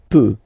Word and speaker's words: peut: Then il, elle peut. So you will put T at the end, you don't pronounce it.